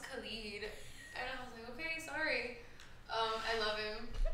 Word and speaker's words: Khalid: about R&B singers believe someone told me like two days ago they were late it's pronounced Khalid okay sorry I love